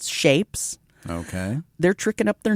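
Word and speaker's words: SHVPES: Oh, now singer Bruce Dickinson's son Griffin is in a metalore band called Shapes.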